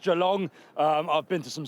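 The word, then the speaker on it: Geelong: I went to a place called Gilong as I call it, properly pronounced Jalong.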